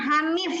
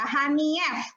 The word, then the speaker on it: Hanief: Bacanya bukan Hanif ya, Hanief.